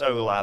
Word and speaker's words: hola: It's pronounced hola, but spelt with an H, H-O-L-A.